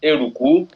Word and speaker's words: Eruku: The community is pronounced Eruku.